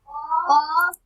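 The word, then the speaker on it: ق: Qaf. Kaf. Kaf. So this qaf is heavy, so we pronounce it heavy. This is heavy letter, so we pronounce fatly like qaf, Qaf. kaf. Kaf. This is light letter.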